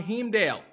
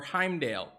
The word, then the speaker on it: Heimdall: new hero breakdown on hemdale or heimdale however you want to say it okay you guys get all butthurt i make a joke about it i continue to say it wrong because you guys are